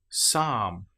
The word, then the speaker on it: psalm: Or how about the example of the letter P when it comes before the letter S? Psychology psalm. Here we don't pronounce the P at all. We just say pronounce the S sound. Psychology. Psychiatry. The P is completely silent.